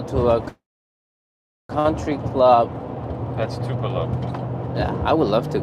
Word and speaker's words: Tupelo: Tupelo.